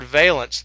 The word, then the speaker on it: valence: is veence electrons uh key word here is the word veence there is a same word pronounced differently called Valance that you may have